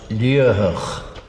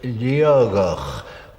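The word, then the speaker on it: Liathach: As it is written, it is pronounced Liuhach, but I know that old native Gaelic speakers from Torridon sometimes pronounce it Liogach, where the T in the middle should be a G.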